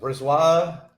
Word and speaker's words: Brisebois: Brisebois. It's a silent B because there's 2 B's. It's Brisebois. I'm going to pronounce it Breezy Boy because I speak English.